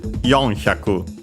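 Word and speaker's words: 四百: Yonhyaku. Okay, simply accented on the first syllable.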